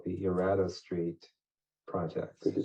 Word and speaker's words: Erato: housing project called the Erato Street Project. Could you spell that for me? ERATO. And that's the way people in New Orleans pronounce that word.